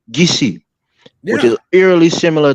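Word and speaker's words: Kissi: One is called the Gola tribe, which is eerily similar to Gola, and we have another tribe called the Kisi, but we pronounce it Gisi, which Yeah.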